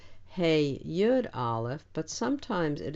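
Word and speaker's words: היא: he means she and it is usually spelled hey yud alef but sometimes it is spelled hey alef but it is always pronounced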